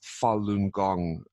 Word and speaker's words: Falun Gong: tai chi very similar to yoga meditation it's pronounced falun gong then and it consists of moral teachings and